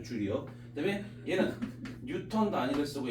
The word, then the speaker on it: 줄: 단위는 줄이란 단위를 쓰고요 줄이라고 읽어 준다고 줄리엣은 아니고요 줄이요 그다음에 얘는 뉴턴 단위를